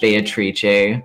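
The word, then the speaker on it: Beatrice: atrie I sure do wait is that how you pronounce it that is in fact how you pronounce it oh well I learned something new every day the Italian pronunciation of the name yes she's Italian clearly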